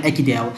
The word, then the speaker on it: Ekidel: if you have not subscribed to our channel akidel i would say should please click on the